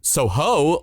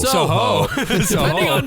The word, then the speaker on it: Soho: But in Soho or Soho. Depending on which Brit is talking, we do get two completely different pronunciations.